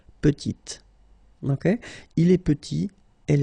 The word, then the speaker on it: petite: Final T is not pronounced, and then when you add this E at the end, you get the sound T, T, petite.